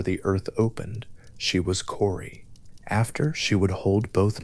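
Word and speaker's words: Kore: Corey is there among the nymphs. Core, the name that means simply maiden or girl, a name that carries in its two syllables the whole weight of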